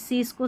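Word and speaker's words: science: Number 34 पर है एस सी इसको स या स्क दो उच्चारण हैं इसके। देखिए साइंस में स पढ़ा स्कैन में स्क पढ़ा।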